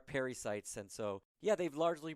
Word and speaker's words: pericytes: It's funny because I pronounce them incorrectly myself, and so they're pericytes, and so I always say parasites, and people think I'm talking about malaria or something like that. But yes, they are pericytes, and so, yeah, they've